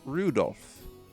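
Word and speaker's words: Rudolf: that's not helping anyway this guy's name is pronounced Rudolph haha he must hate grandfather for giving him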